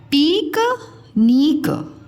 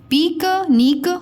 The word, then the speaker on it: पिकनिक: पिकनिक, पिकनिक बोलते हो आप, ये उच्चारण गलत है। देखो सही उच्चारण क्या होगा? पिक निक, कम समय लगा ना, पिकनिक, पिकनिक।